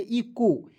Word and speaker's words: echo: उसके बाद देखिए यहाँ पे ECHO, तो ईचो नहीं पढ़ेंगे, इसे पढ़ेंगे इको, ई को ई लिख देना है दोस्तों, ई को कभी कभी ई भी लिखना है, और CH को यहाँ पे उच्चारण करना है क के रूप में, ठीक है।